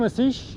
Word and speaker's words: Asish: aish how do you is that how you say your name asish asish a s i s h yes aish yeah okay and